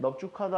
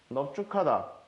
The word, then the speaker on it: 넙죽하다: 일단 비읍으로 갑니다. 여기선 비읍으로 한 대 쓰니까. 자, 비읍이 지읍 만났다. 기역, 디귿, 비읍이 가다 부수자 만났다. 너 쭉이야. 그런데 이 기역으로 해야 되는데 우리가 뒤에서 배울 기역과 히읗이 만나면 축약, 합체가 일어나줘야 됩니다. 그래서 넙죽, 카다라고 발음을 해주게 됩니다.